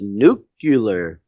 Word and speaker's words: nuclear: a nuclear sub nucular it's pronounced nucular Wow whatever nucular later